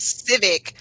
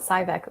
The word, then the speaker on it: Civic: casting her or something her last name is civic like honda civic yeah oh i always pronounce it cybec oops the only reason